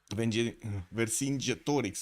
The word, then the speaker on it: Vercingetorix: Vercingetorix, right? That's how you said I should pronounce it.